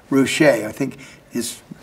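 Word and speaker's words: Ruscha: it was ed ward he spelled it out phonetically roushay i think is it's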